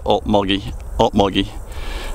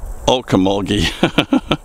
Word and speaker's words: Ocmulgee: the Ocmulgee River, and we here in the South refer to it as the Ocmulgee. It looks like it would be Ocmulgee, but we Southerners don't pronounce anything right.